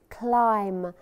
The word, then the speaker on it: climb: mountain and listen here climb the bee is silent we do not say or pronounce the letter b so climb the mountain